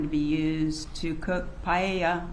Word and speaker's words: paella: be used to cook paella. I'm not sure if that's how you pronounce it, at the party. It's pronounced paella.